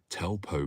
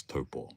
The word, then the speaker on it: Taupo: But people are like, oh, I've been to Taupo before. And I'm like, it's Taupo. Don't ever say it like that.